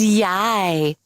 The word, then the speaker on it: Yiye: And we corrected that, and we rehearsed her to pronounce Yiye, which she did. Unfortunately, I don't even know where that one is. No. So we are left with YiYE, YiYE. which he's not comfortable with.